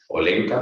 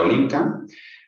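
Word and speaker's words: Olenka: Ahí vemos a la gran duquesa Olga Alexandro, hermana del zar, tía Olinca, Olenca, pero se pronuncia tía Olinca.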